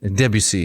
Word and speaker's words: Debussy: Composers like Wagner used the narrative foundation of Norse mythology to create an intricate operatic cosmos, whereas Ravel and Debussy, is that right? Is it Debussy? Debussy.